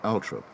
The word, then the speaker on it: Althorp: Even though she had preferred bright lights and big cities, the rural setting of Althorpe, sometimes pronounced Althorpe by the toffs, was thought most appropriate for Diana's last resting place.